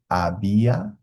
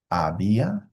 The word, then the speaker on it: había: I this one is abia abia and then ubo silent h in Spanish at the beginning of a word okay so this is